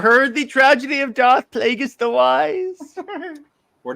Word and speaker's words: Plagueis: The name is Plagueis, not Plagueis. It's pretty clear that Darth Screw You Jared. Use the proper pronunciation, you nerd.